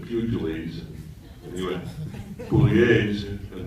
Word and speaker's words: Pugliese: no, his name is actually Pugliese, when he, you know, because it's an Italian name, but when his dad was in kindergarten, the Irish Catholic nun said Pugilis, and he went Pugliese,